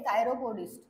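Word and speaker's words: chiropodist: म्हटल जातं काय ओके हे कायरोपस्ट कायरोपस अस याला प्रोनाऊन्स करायचं आणि करेक्ट स्पेलिंग कायरोपसची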